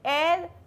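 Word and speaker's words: heir: एयर H silent.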